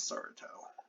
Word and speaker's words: Saratov: So I actually want to see, where is Saratov? I'm saying Saratov because they pronounce their W's as V's.